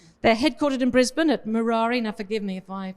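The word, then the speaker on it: Murarrie: They're headquartered in Brisbane at Murari. Now, forgive me if I pronounce that wrong. I've only been here 6 months. Murari, there you go.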